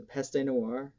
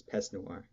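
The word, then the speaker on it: Peste Noire: no pest no it's pest noir just found out it's pest noir because peste or pesta peste would be more of a german pronunciation but um also french like like past noir um folk mod which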